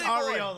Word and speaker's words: Arriola: It's Arriola. That's my man. Yeah. I'm just like, finally got to see some Arriola."